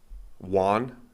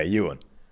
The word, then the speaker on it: Ewan: Spell it? E-U-A-N. Yeah, Ewan. Oh, Ewan, of course. Yeah. Juan. that's how you. Yeah. I replaced the E with a J. Yeah. And made it a Hispanic name, Juan.